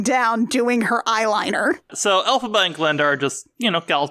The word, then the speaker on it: Elphaba: Even in, canonical Oz fandom, we've almost sort of decided, yeah, her name is Elphaba. Which is interesting because it's really just like someone phonetically pronouncing LFB, L. Frank Baum.